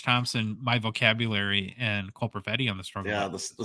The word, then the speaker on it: Perfetti: The number 8 point producer, 21 and under, Troy, is Winnipeg Jets forward Cole Perfetti. His name rhymes with spaghetti, so maybe we could throw him into the pasta.